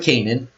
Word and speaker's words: Canaan: And Ham, the father of Canaan, that's how it's said, saw the nakedness of his father and told his brethren without.